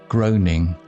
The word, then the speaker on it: groaning: Groaning sounds like groaning, rhymes with rowing.